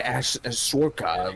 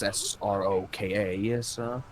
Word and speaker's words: Sroka: Because I see Ashley is voiced by Tali is voiced by Sorka. I don't think I pronounced her name right, but that's how it is. Sroka.